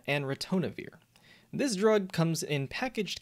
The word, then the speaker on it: ritonavir: which is really hard to say but it's pronounced nirmaltravir and retonavir this drug comes in packaged kits of three